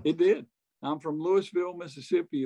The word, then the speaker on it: Louisville: it did i'm from louisville mississippi let's say louisville not louisville they say louis we got to pronounce